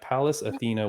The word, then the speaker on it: Pallas Athena: So for those that don't know this organization that perhaps only Regan and I know, this is how do I pronounce it? Pallas Athena? Yeah, Pallas Athena Women's Fighting Championship.